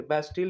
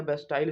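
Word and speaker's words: Bastille: ठीक है, बेस्टिल या बेस्टाइल इसको बोलते हैं, अपना अपना प्रोनाउंसिएशन होता है।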